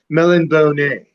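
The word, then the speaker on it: Melniboné: I I see I say Melon Melon Bonet. That's I I met Michael Morcock in Austin one says I said how do you say it? Melan Bonet. me more coco than than I that's that's the official and he was this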